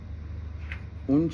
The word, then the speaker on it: une: Une chaussure.